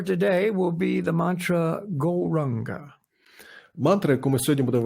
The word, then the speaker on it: Gauranga: Our mantra for today will be the mantra Gauranga. Мантра, яку ми сьогодні будемо використовувати, це Gauranga. And for this meditation, we divide it into 4 syllables, Go, Ra, Ang, Ga.